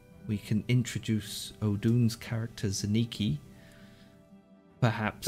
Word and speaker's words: Zaniki: And, we can introduce Odun's character, Zaniki, perhaps. Oh, it's Zaniki. We have been pronouncing his name wrong this entire time. I do Zankini, apologize.